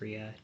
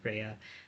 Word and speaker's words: Rhea: It's Ria, not Rhea.